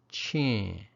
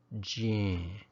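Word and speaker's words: ချင်း: Notice in these last two examples that since the previous syllable was a stop tone, it ended abruptly, the pronunciation became chin and not jin.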